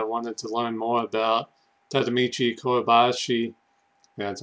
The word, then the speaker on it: Tadamichi Kuribayashi: it and I wanted to learn more about tadamichi kobashi that's how you say his name and uh